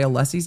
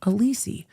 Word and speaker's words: Alessi: the exact same way Allessie's name is spelled. And I'm like, Dr. B. Dr. B, how would you um how would you pronounce this? And he was like, Allessie. I'm like, not Alisi.